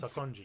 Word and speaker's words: Sakonji: Because if you can play as how do you pronounce his name? The guy that taught Tanjiro his forms. Sakonji.